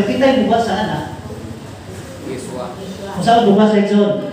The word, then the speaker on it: Yeshua: Yeswa. Kung saan bukas sa Exxon? Yeswa. Yeshua. Pero kung ang Hebrew mo pronounce sa anak, Yeshua.